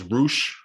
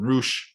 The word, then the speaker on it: Rush: I guess his name is Roosh, which is spelled like Rush, but they call him Roosh.